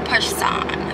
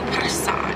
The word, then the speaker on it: Person: And if you're new to my channel, it's pronounced Person. So, or Person. Person. Yeah, like French.